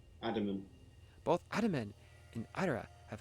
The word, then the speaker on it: Adaman: Adaman.